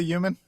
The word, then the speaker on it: human: You don't like the way I say human? No. You say uh you say it with a silent H. I don't think the H is supposed to be silent. Yeah.